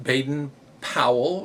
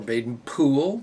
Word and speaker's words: Baden-Powell: this is why scouting kind of started with Baden Powell or Baden Poole depending on how you pronounce it BP started it all and he